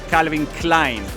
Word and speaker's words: Calvin Klein: No, lo dijiste bien. En inglés se dice Calvin, bueno, en inglés, en todos los idiomas se dice Calvin Klein.